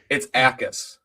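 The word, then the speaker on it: Jacas: It's Yacus. Okay, Yacus. Basically like there's no there's no J there.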